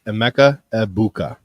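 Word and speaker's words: Emeka Egbuka: aa abuka okay no no the g is silent it's EMA abuka okay the Ohio resid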